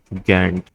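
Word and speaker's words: Gantt: इसकी स्पेलिंग कुछ यूं होती है। जी N double T गैट गंट chart.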